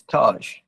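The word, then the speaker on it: TAAG: We were warned about flying Angolan airline, which the Faroes, the airline's name is Taj, but it's spelled T-A-A-G.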